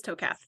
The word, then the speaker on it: Tokath: It is Tokath. You were saying it right.